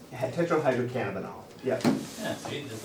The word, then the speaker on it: Tetrahydrocannabinol: Tetrahydrocannabinol? Tetrahydrocannabinol.